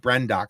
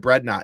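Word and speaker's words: Brendok: I keep calling it Brednot in my head, and I think it's funny, but the problem is that screws up the actual pronunciation of Brendock when I'm trying to talk about it.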